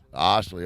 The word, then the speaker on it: Osterley: Osterley or Osterley? Osterley. All right, I've been saying it right.